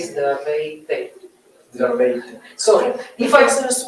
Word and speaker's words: здравей: Zdravej. Zdravej. Zdravej. Zdravej. Zdravej. That means wish you good health. Ah. Zdravej means wish Zdravej. you health. It comes from the word health, zdravej.